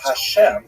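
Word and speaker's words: השם: And the word Hashem, of course, is pronounced with the letter H, but there is no letter H in the Russian alphabet.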